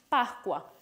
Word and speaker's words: Pascua: They would be pronounced in two different ways. In Italian, Pascua, and in Venezuelan Spanish, Pascua.